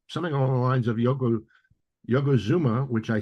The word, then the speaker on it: Yokozuna: my mouth were something along the lines of Yokozuna, which I said Zuma because Mr. Fuji had been calling him, mispronouncing his name.